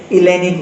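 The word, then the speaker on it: Hellenic: वो साइलेंट होता है, जैसे कि हम लोग हेलेनिक बोलते हैं, वो इलेनिक होता है ग्रीक में, इलेनिक।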